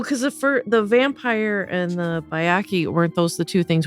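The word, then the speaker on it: Byakhee: So that's Bayaki. Oh, is okay. the way you pronounce it.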